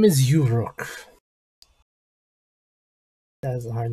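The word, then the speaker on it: Uroc: His name is Uruk. That is a hard name to pronounce. Uruk.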